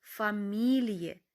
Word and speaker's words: Familie: розпочинається на літеру ф і і F в кінці слова яке за правилами має читатись як довге і читається тут як і е ті фамілії сім'я це виняток діфамілія сім'я це вона тобто